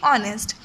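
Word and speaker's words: honest: और ईमानदार रहता है इसमें एच क्या होगा साइलेंट होगा इसको हम पढ़ेंगे ऑनेस्ट read the story and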